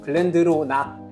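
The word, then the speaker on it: Glendronach: 주시고요 오늘은 여기까지 그리고 쉐리 위 추천해서 글랜드 로을 자꾸 제가 글랜드 로이라고 발음을 많이 했나 봐요 그래가지고 이걸 지적하시는 분이 있었는데 죄송합니다 그리고 글랜드 로냐 그리고 글랜드로낙 글랜드로낙 위스키 리브랜딩 영상에서도 제가 글랜드 로이라고 많이 발음을 해 가지고 그때도 지적하신 분이 있었고 전문성이 없어 보여요 왜 그렇게 자꾸 발음 하세요라고 하시는데 그게 저한테 너무 익숙해요 글랜드로낙 알아요 저도 그래서 죄송합니다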